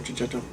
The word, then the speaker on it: Checchetto: I checked, that's how you say it, Marco Cicchetto.